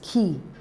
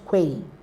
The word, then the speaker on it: quay: the first option is key not Quay it's pronounced as key the second option is